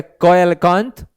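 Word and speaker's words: coelacanth: and salamander Ace so you can pronounce it as a koelkanth you can say silicon okay so that's the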